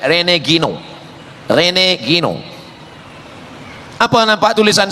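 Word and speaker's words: René Guénon: Cara bacanya Renegino.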